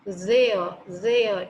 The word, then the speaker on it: there: Or you can take another example, there, T-H-E-R-E, there.